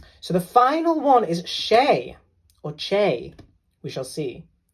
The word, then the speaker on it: Che: So the final one is Shay or Che. We shall see how to pronounce that.